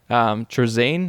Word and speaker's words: Trazyn: Trazine, I think it's pronounced. Trazyn the Infinite.